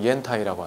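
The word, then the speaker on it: 烟台: 그 연대시는 중국어 발음으로 옌타이라고 하는데요.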